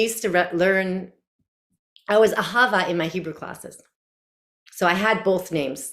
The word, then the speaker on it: Ahava: silly silly um ahava is in Hebrew is pronounced ahava and it is the Hebrew word for love